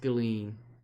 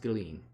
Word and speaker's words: Ghislaine: Yeah, it's pronounced Ghislaine.